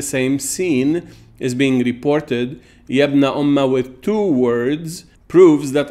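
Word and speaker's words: يَبْنَؤُمَّ: Yabna umma, especially with a fatha on the meme at the end from ayah 2094, pronounced yabna umma, not yabna ummi.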